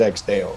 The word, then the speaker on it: Ex Deo: But EX DEO, EX DEO, you know, the real way is EX DEO, you know, that's how you say it.